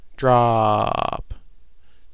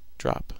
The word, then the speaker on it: Drooop!!: go do that it's meant to be pronounced drop drop drop just call it drop